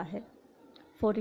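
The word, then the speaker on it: half: अगर किसी वर्ड में एम, एफ, के, डी से पहले एल आता है तो एल हमेशा साइलेंट होगा। For example song, हाफ, talk, खुड। किसी वर्ड में एन से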